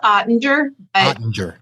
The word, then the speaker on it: Oetinger: i've ever pronounced it is it odinger it's ottinger you can say whatever